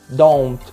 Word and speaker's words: don't: Don't. Muitas vezes, cuidado com a pronúncia desse T, tá? Ele é bem lightzinho. Às vezes, a gente nem precisa falar o T, tipo don't, né?